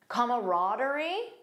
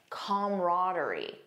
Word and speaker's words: camaraderie: Notice the first pronunciation has an extra sound, comma. Comaraderie. The second one just says camaraderie. Most American speakers, in my experience, say camaraderie. That's the one that I personally use.